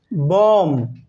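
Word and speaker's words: bomb: Li silent letter be এম লেটারের পরে বি থাকলে বি লেটারটি silent হয় যেমন বম এখানে বি সাইলেন্ট হয়ে গেছে বম কিন্তু হয়নি যেমন চিরুনি ইংরেজি চিরুনি ইংরেজি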